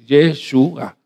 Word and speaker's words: Yeshua: y se latinizó así, pero su nombre correcto para pronunciar es como se escribe así, Yeshua.